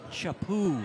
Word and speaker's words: Chapu: Chapu is how it's pronounced. That's French.